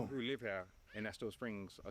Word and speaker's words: Estill Springs: How do I pronounce it? Estill Yeah. Springs? Estill Springs. Estill Springs.